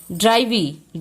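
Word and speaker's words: drive: वी ए ठीक है ड्राइविंग ड्राइविंग बोल रहे हैं तो इसको देखिए इसका भी यहां पे ए जो है हमारा यहां पे भी उसका उच्चारण नहीं हो रहा है यहां पे इसको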